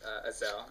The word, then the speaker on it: Azael: My actual name is Azael, and you got it right. That's how you pronounce it.